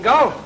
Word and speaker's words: golf: Oh, we met at the golf club, didn't we? Golf? Oh, you mean golf? Well, it's pronounced golf. You leave the L out.